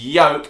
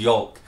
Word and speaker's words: yolk: And she was like, it is yolk. So then we were forced to call it yolk. No. But she's wrong. Yolk is another word that's got a silent L, a bit like almond.